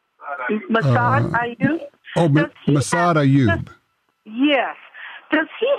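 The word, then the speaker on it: Massad Ayoob: Mayoud, I don't think I'm pronouncing his name right. Massad Ayub?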